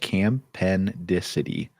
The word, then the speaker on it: campendicity: You pronounce that campendicity.